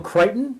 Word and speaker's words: Crichton: Somebody said Michael Creighton. No, Michael Crichton. Crichton. No, Michael Crichton. That's how it's pronounced.